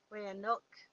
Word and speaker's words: Wayanoke: Okay, so a lot of us descend from tribes that were not the Chickahominy, like the Wayanoke or the Wayanok tribe. The Wayanok is spelled Wayanoke.